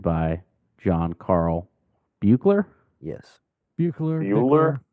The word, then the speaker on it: Buechler: Buechler. Bueller? Bickler. I've heard both pronounced. Bueller. It's a weird spelling for Bickler, but that's Well, what a lot of Was the people.